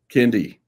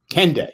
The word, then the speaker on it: Kendeigh: I'm sorry, am I getting the name wrong? Jane? Kendeigh. Kendeigh, jeez. Kendeigh, yeah.